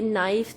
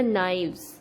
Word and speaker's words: knives: Pronunciation भी change होगी, ये नाइफ्स नहीं होगा, इसमें आएगा KNIVES, ये हो जाएगा नाइव्स।